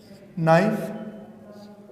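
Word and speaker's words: know: अब देखिए, ये तीनों वर्ड्स जब हम प्रोनाउंस करेंगे तो इसमें के साइलेंट होगा। हम इसे पढ़ेंगे नो, इसे पढ़ेंगे नाइफ और इसे पढ़ेंगे नॉक।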